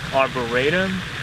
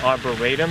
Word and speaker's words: arboretum: And according to Webster, it's pronounced arboretum as opposed to ratum, like R-A-Y versus R-E-E.